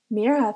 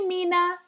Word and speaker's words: Mira: couldn't say it right they stretched out the eye until it sounded like an e and their R sounded wrong some people forgot the H hey Mina Miriam hey Miro Mira